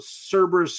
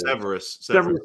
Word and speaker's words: Severus: I remember Cerberus Snape saying, always. Severus. I'm sorry, Severus Snape.